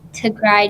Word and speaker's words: Tigray: are really great to look at it's hashtag to cry genocide so is spelled t i g r a y and